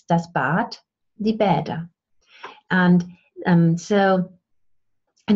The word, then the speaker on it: Bad: So when you spell something with the D, like the German word bath is B-A-D, bad, bad. But the D is pronounced like a T because it's at the end of a word.